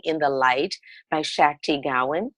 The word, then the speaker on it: Gawain: There's a book called Living in the Light by Shakti Gawain. Gawain, is that how her name is pronounced? Wayne, yeah. Gawain.